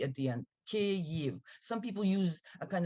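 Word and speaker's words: Kyiv: because they all say Kiev it's not it is two syllables the first a sound is like in the word big and the the ending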